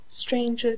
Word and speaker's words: stranger: Stranger does not rhyme with anger, neither does devour with clangour.